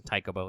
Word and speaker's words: Taikōbō: SSR writer Taikōbō. We'll also talk about more names later, but the Japanese pronunciation is Taikōbō.